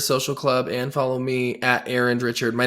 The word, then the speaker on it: Arend: Instagram @ Sirus social club and follow me Aaron Richard my name is spelled a r n d Richard it's a